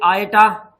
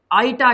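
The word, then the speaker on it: iota: इस i को i नहीं कहते, बल्कि गणित में इसे आयटा, आयोटा या आइटा के नाम से जानते हैं। कोई फर्क नहीं है, केवल बोलने में हमारे प्रोनाउंसिएशन में फर्क है। कई इसे आइटा कह देते हैं, कई आयोटा कह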